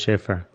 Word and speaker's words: Shafer: you got it perfect it's spelled kind of funny but it's pronounced shafer right on it's good